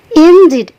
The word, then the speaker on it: indeed: lanjut ke Indeed nah perhatikan katain disini disini cara bacanya itu ada stretching namanya teman-teman yaitu ke naikkan suara kalau di bahasa Inggris kenaikan suara itu dikasih tanda petik di atasnya sedikit maka itu Naik suara kita memakai kita bacanya Injit jangan Indeed ya tapi Injit nilai kan sedikit artinya sungguh kemudian